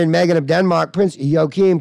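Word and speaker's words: Joachim: now the Harry and Megan of Denmark Prince yokim pronounced yorkin prince jarkin it's spelled your Kim though York and I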